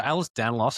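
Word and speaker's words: Ehlers-Danlos: So Alice Danlauss I think you said it right.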